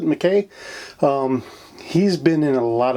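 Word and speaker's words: MacKay: We also have George McKay, I do believe is how you pronounce it, McKay.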